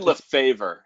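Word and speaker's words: Lefèvre: Edwin Lefebvre is actually how it's pronounced. Is that the one with the charts annotated by William O'Neill? Yeah. I like Lefebvre better.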